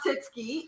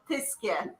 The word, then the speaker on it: Tyskie: not Titski, it's Tiske. Tiske.